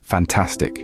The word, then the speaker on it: fantastic: Now, try it with the word fantastic. Which syllable is stressed? Did you say the second one?